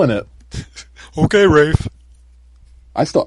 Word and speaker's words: Ralph: It's like, okay, but if Voldemort can say that Ralph is pronounced Rafe, then John Constantine can say that it's pronounced Constantine, and that's what it's goddamn pronounced as.